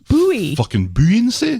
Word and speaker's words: buoyancy: that buoyancy is it buoyancy there's something buoy bullets there's a u in there b-o-u-y buoy but that you choose not to pronounce in buoyancy that's different because it